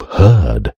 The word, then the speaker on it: herd: Beware of herd, a dreadful word that looks like beard and sounds like bird, and dead.